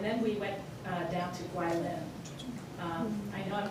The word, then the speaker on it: Guilin: And then we went down to Guilin. I know I'm pronouncing that wrong. How do I pronounce that? Guilin.